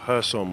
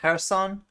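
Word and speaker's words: Kherson: morning the city of hersom was targeted by shelling I always mispronounced it Harrison with at least three civilians killed I used to call it Kirsten is this new news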